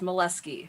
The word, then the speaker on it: Moleski: Oh, no, the way you pronounce it is how you get teased. It's Moleski.